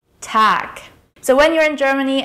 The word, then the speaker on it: Tag: Lastly, the word Tag is pronounced with a K sound at the end. Tag. Tag.